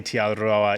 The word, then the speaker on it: Te Araroa: So the way to say tee-are-a-rho-a is T, and you got to roll your R's.